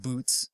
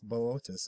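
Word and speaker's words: Boötes: constellation of botus now it looks like boots it looks like that's how you pronounce that word but I don't I don't think it's boots it's botus I believe Lun hypothesis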